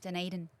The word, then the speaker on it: Dunedin: You have to say it like a Kiwi. Dunedin.